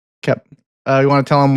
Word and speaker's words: Koepp: Sorry, Koepp. Yeah. Not quote. Koepp.